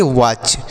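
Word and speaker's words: watch: ए टी सी एच वाच पढ़ते हैं वट नहीं पढ़ेंगे वाच अब वच मतलब क्या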